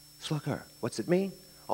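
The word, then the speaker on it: slacaire: s l a c a i r e pronounced sluger sluger what's it mean a m a Bruiser but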